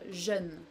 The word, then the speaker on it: jeune: It's only j, j, like in pleasure, for instance, in English. En français, je peux dire jeune, par exemple. Jeune means young, and we pronounce it that way.